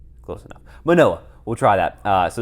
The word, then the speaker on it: Manoa: Definitely not Mahano. Mahano. Mahano. Manoa. Manoa. Mahano. Manoa. That's a N, not a H, but it is Moa.